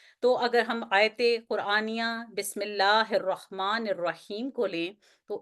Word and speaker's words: بسم اللہ: آواز ٹھہرے گی اور ہم اس کو پڑھیں گے بسم اللہ، بسم اللہ، یعنی تلفظ میں ظاہر ہو کہ آپ نے لام کو 2 دفعہ پڑھا ہے۔ اس کے بعد